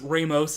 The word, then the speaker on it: Ramos: Okay, by the way, yes, I pronounced Ramos differently, because Ramos is how you pronounce it.